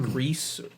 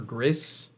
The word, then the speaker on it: Gris: that right gre gre so it's Spanish so it so the S is not silent it's like gree or griss uh it's like Spanish for gray I think grits it's grits it's